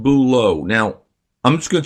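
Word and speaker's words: bulots: And I'm going to tell you right now, by the way, that I also had something called bouleau. Now, I'm just going to tell you how it's spelled.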